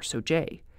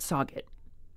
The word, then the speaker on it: Sauget: all of that mean the so family does say the village one way but plenty of others say SA or soj the experts family or academic say it's not that big of a deal but remember they can all agree it's definitely not soot in so I'm will